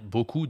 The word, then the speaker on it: beaucoup: Il prononce le S, mais on doit dire beaucoup de succès. Beaucoup de succès. Tu ne prononces pas le S à la fin. C'est une consonne muette, d'accord?